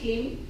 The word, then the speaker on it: Klim: Se escribe así, Klim, pero se pronuncia como si tuviera doble E.